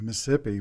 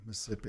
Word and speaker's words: Mississippi: But don't forget that Mississippi is pronounced Mississippi when you're from Mississippi. Okay. It's one less syllable, Mississippi.